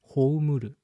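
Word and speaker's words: 葬る: So, but other pronounce is houmuru.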